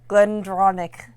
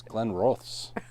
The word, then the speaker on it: Glenrothes: Glendronach. That's not it. It's not even close to Glendronach. It's Glenrothes. Sorry.